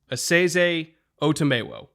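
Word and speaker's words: Esezi Otomewo: it up so it is a seize otamewo yes that's nailed it that's pretty solid i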